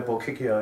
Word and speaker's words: Bochiccio: Now, is your last name pronounced Bochiccio? Yeah, Bochiccio, yeah. Yes. You got it. CH is a K.